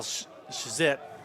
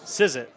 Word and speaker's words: Sizet: It's going to be 57, Kyle Skizet. We'll let you go through it first. I was going to follow your lead. See, is there a pronunciation guide on that one? Sizet. There you go.